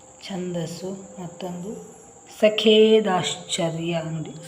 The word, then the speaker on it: ಛಂದಸ್ಸು: ಮತ್ತೆ ಎರಡು ಪದಗಳನ್ನ ಬರೆದುಬಿಡೋಣ ಛಂದಸ್ಸು ಅಂದ್ರೆ ಛ ಇದಕ್ಕೆ ಸೊನ್ನೆ ಕೊಟ್ರೆ ಛಂದ ಇಲ್ಲಿ ದ ಅಕ್ಷರವನ್ನ ನೋಡಿ ಇದರ ಉಚ್ಚಾರ ಮಾಡಬೇಕು ಇಲ್ಲಿ ಛಂದಸ್ಸು ಛಂದಸ್ಸು ಮತ್ತೊಂದು ಸಖೆ ದಾಶ್ಚ ಚರ್ಯ